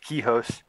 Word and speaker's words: Kihos: Am I saying it right? Is that how? Yes. Okay. Yeah, pronounced Kihos.